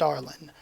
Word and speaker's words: Arlene: name was arlen line added an e to an e to the end of it it should still be pronounced arlen um but you can